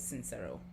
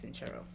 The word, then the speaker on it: Sincero: say her name because I definitely thought it was sincero but listening to the book it's sinchero let us read the